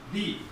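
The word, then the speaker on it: the: দি উচ্চারিত হয় এবং কনসোনেন্টের আগে দা উচ্চারিত হয়।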